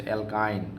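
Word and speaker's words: alkyne: বলেন তো এখানে আরেকটা জিনিস লিখলাম সেটা হচ্ছে অ্যালকাইন কি লিখলাম বলেন তো অ্যালকাইন আইন আইন আইন উচ্চারণটা শুইনেন তিনটার তিনটা উচ্চারণ একটা হচ্ছে অ্যালকেন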